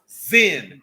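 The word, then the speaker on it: Zin: it's literally called it's it's pronounced zen in english z-i-n hold on let me grab the first place what'd you say say that again oh number 13.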